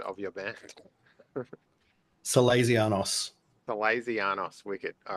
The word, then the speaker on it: Salezianos: My first question is, how do I pronounce the name of your band? Cazanos.